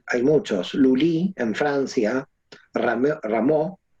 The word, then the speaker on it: Rameau: Lully en Francia, Rameau, Rameau se escribe, ¿no? En francés, Rameau también.